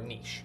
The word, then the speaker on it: niche: way is to develop a niche or a niche I've heard them pronounced both ways a niche is a